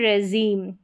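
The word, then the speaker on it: regime: फिर यहाँ पर है रेजीम, रेजीम सबमरीन, और ये है मरीन, इनको आप प्रोनाउंस करके पढ़ लें।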